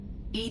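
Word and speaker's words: EDI: a specific inquiry why are you named ed ed is the phonetic pronunciation of Ed I that is an acronym for enhanced defense intelligence how are you getting along with Joker mr.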